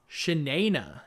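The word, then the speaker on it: Shi'nayne: Shanaina is the way that it's pronounced in my audiobook.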